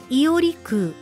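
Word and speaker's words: 伊織空: 案ですねはいに空と書いてイオリクウとお読みするそうです八ヶ岳にあり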